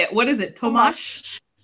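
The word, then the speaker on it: Tomáš: Tomasz? It's got a smooch to the end of it. Tomasz.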